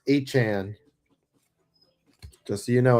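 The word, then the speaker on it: Etienne: It's pronounced Echan.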